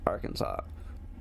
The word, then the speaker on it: Arkansas: they wanted to know why Kansas is pronounced Kansas, but you add AR to Kansas and it's spelled and it's pronounced Arkansas. People want to know why it's not. The person wanted to know why it wasn't pronounced Arkansas.